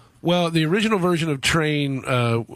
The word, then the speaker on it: Trane: Well, the original version of Train, which is spelled Trane, like John Coltrane, was on our first studio record, and then the Live at Roseland version you're talking about.